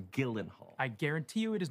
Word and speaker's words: Gyllenhaal: No, Gyllenhaal, your name is pronounced Gyllenhaal.